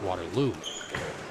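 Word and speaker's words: Waterloo: affiliate out of Waterlue and it is pronounced Waterlue.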